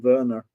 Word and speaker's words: Werner: Yeah, like a W becomes a V.